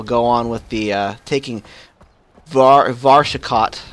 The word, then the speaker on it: Varshakot: Yeah, let's do these missions here, and then we'll go on with the taking Varshakot, right? Did I say it right? Yeah, Varshakot.